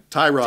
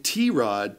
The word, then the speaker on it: Tyrod: You keep saying T-Rod, Ty Mobile Taylor. You keep trying to start it with the wrong T sound. Tyrod, It's Tyrod. T-Mobile Taylor. T-Mobile Taylor. Tyrod T-Mobile Taylor.